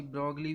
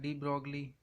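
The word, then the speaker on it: de Broglie: spelling अरे अलग है कोई ब्रॉकली भी बोलता है डी ब्रोग्ली हाइपोथेसिस आईएस थे लाइफ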